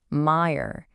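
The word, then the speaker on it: մայր: And of course for mother, the word is meer. Pronounced meer.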